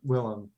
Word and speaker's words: Willem: he changed his name though so it is pronounced willem but like yeah if you if you're calling